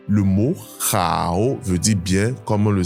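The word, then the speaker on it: 好: et ça se prononce chao. Chao. Ce mot est au 3è ton et il faut donc que tu prennes le temps de descendre puis de remonter lorsque tu parles.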